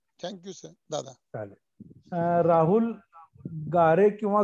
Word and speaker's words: गारे: राहुल गारे किंवा गरे. नमस्ते दादा. नमस्कार. आडनाव कसं आहे आपलं? गारे GARE. गारे. गारे. ठीक आहे.